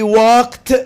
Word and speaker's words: walked: The final example, we walked slowly. By the way, it's walked. You have to pronounce ed t.